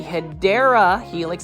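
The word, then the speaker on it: Hedera helix: we have a wonderful HRA helix or what you call the hyera Helix that's the correct way to say it English ivy love the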